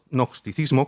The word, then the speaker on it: gnosticismo: una corriente se llamaban gnosticismo con una g delante que es muda y no se pronuncia que decía que cristo